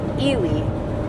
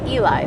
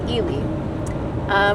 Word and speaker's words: Ely: So the first one, you pronounce it Ely. A lot of out-of-state people call it Eli, but it's called Ely.